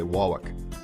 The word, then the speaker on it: Warwick: learn that it's um Warwick is another one um some people say walk or they don't even they take out the r entirely they say Warwick when socket is another